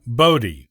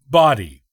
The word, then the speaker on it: Bodie: o sound as in Bodi by most people who are not from the Outer Banks the Outer Banks locals though pronounce the island's name as body there is folklore associated